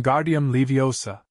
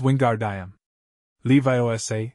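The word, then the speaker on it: Wingardium Leviosa: much more luck when guardium leosa he shouted waving his long arms like a windmill you're saying it wrong Harry heard hermion snap it's Wingard Levi Osa make the gar nice and long you do it then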